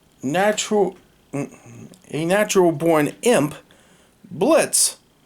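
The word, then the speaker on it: Blitzø: a natural born imp blitz the o is silent and his business that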